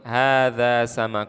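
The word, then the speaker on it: هذا: lihat Hai harga Hai kalau kita perhatikan haknya tidak panjang Tapi bacanya harus panjang Haza di Quran atau desain Quran bacanya panjang walaupun tulisannya tidak panjang Haza artinya adalah ini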